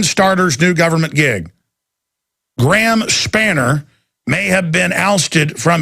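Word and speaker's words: Spanier: Is that how you pronounce that, guys? Spanner, yeah.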